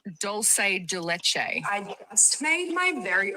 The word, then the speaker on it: dulce de leche: It's doulce de leche. I just made my very own douche douche which I up.